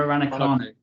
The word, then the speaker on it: Raducanu: Yeah, Emma Raducanu.